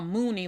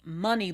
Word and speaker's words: Muni: Now, I always was calling her Mooney long that my I guess it's just how it's spelled. So, and I'm not the only one. A lot of people call her Mooney Long, but it's not Mooney Long. It's money long.